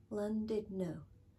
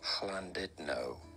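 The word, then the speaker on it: Llandudno: I end up close that is called you pronounce it in English London did no I've landed now but it is spelled and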